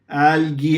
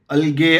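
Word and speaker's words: algae: लिखेंगे एलगी ठीक है एलगी ऐसे प्र करते हैं अलगे अल्जी ऐसा सब नहीं है ओके तो इसकी साइज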